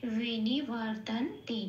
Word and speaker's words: বিনিবর্তন্তে: 9 হসন্ত লেগে গেল মানে এটা অর্ধ ন হয়ে গেল। অর্ধ ন মানে এটাকে পূর্ণরূপে ন বলে উচ্চারণ করতে পারবো না। কিভাবে উচ্চারণ করব? আগের অক্ষরের সাথে জুড়ে। আগের অক্ষর কি আছে? ত। হ্যাঁ, তাহলে ত এর সাথে জুড়ে এটা হলো তন, আর পরে রইল তে, তেটা যেমন আছে তেমন। তাহলে শব্দটা কি পেলাম?